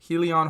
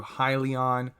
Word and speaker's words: Hyliion: with ticker symbol h-y-l-n helion holdings corp or if you want to pronounce it in another way as well however works best for you highly on holdings corp this was previously